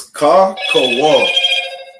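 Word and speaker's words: כחול: So then blue Blue is ka kawal.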